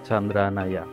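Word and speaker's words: Candra Naya: tersebut yang pertama Chandra Naya bacanya Chandra Naya sebuah bangunan cagar budaya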